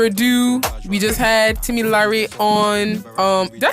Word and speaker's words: Lyre: But yes, without further ado, we just had Tim Lyre on. Did I say it right? Almost. Say it again. Tim Lyre.